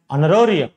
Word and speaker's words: honorarium: ఇక్కడ చూడండి, H ఈ మూడింట్లోనూ H is silent. An R, don't say an hour, it is an hour. ఇక్కడ an air, an honorarium, an honorable man, okay, an honest person.